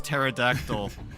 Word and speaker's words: pterodactyl: Mine is mine is pterodact mine is pterodactyl because because uh people don't know that the P is silent.